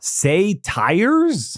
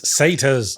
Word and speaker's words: satyrs: it's pronounced an haar say tires it's satas okay I think I